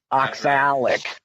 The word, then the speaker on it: oxalic: oxalic acid that's yes there's an A in it not an yeah it's oxalic thank you very much